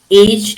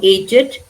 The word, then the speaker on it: aged: Blessed or blessed, aged or aged, crooked, dogged, learned, ragged, wicked, wretched, wanted. Pronunciation is id.